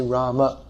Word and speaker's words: Rama: So to say the name properly according to Sanskrit pronunciation, we should say Rama.